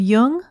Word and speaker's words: Jung: Jung on Apple podcasts just be sure to pronounce Yung with a hard J links to Amazon's new